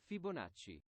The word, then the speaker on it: Fibonacci: I'm we going to put that in Italian Fibonacci Fibonacci Fibonacci hey Fibonacci the fibon sequence Fibonacci it's a very good sequence very good human